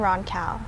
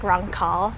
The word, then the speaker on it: Roncal: Roncal. Yeah. Is that how you said it? Yeah, that's how I said it. White people say it like Roncal.